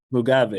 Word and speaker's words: Mugabe: Drawing on her own early experience as a Zimbabwean living under the Mugabe, that's it right? Pronounce it right? yeah, Mugabe. Mugabe, Yeah, okay.